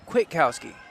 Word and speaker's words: Kwiatkowski: It's Kwiatkowski. The A is silent. Okay. I don't like silent letters. They make life difficult. Right. Attempt to save there by London Kwiatkowski.